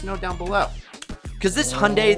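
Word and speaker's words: Hyundai: down below cuz this hyay that rhymes with Sunday goes 0 to 60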